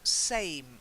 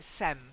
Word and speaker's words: same: There's also same, the same. Long A. The same. Same, yeah. The same. Quite often you say it like it's like sem, okay?